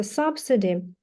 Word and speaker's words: subsidy: Вот это слово, которое мы смотрели в самом начале занятия, читается subsidy.